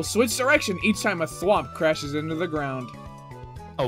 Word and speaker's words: Thwomp: All of the cogs will switch direction each time a thwomp crashes into the ground. A what? A thwomp. You pronounce it thwomp?